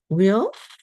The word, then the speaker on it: Weil: Andrew Weil, that's the way you pronounce it, who is a pioneer in the integrative medicine field.